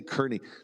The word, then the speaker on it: Kearney: I just say Kernney. Like I I go to hotels now and I'm like Matt Kernney.